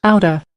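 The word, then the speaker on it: outta: So it means out of, and it's pronounced outer, outer, outer, outer, and it's mainly US.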